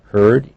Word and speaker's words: heard: heard there's a way notice the past of here heard h-e-a-r but pronounced heard free technology time work